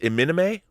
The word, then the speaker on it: iMini-Me: I love Equilibrium, and that is, how's that pronounced? Iminime?